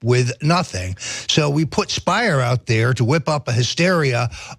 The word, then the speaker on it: Speier: is congresswoman Jackie speier so Spire rhymes with liar this is this is